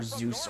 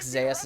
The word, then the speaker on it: Zeus: not go before owner i keep hearing it pronounced either or zeus or whatever but i think zayus is technically how it's pronounced okay so that was